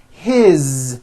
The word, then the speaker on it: his: you hear that is his same thing it also has a voiced Z ending his mom is Mary